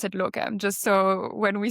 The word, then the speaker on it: Locvm: Um but we pronounce it locom just so when we say locom it means the platform most likely.